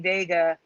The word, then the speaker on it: Wega: Like when I covered Sony Vega, is now Wega, pronounced Vega, but it's spelled W now.